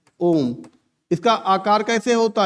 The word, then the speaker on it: ओम: त्रि मात्रिक माने फलत इसका उच्चारण देखो यहां पर आता है ऐसे ओम इसका आकार कैसे होता